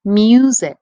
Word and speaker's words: music: it again mu sic the first syllable mu you hear a long u sound don't you like in mule that is an open